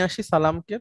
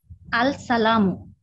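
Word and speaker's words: السلام: যদি নির্দিষ্ট করে নিয়ে আসি সালামকে, তাহলে কি বলবো, উচ্চারণটা কি হবে? আল সালামু। না, আল হয় না, আসসালামু হয়ে যায় তখন। হ্যাঁ, আসসালাম, তখন আর লামটা উচ্চারণ হয় না।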